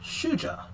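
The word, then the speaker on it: shujaa: with the generic name hero or shuja which that is actually how it's pronounced as swahili for hero so you know i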